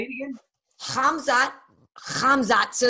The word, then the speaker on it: Khamzat: Khamzat. So it's spelled Khamzat.